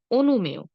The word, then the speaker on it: অনুমেয়: কিন্তু অন্তস্থ অ এর আগে যদি একার বা ইকার থাকে তাহলে অন্তস্থ অ এর সঙ্গে আমরা একটি ওকার দিয়ে উচ্চারণ করব। যেমন ধরুন অনুমেয়।